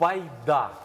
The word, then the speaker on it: Байда: наша сьогоднішнє слово загадка Байда в Байда от наголос на останню літеру на останню а Пойда що це може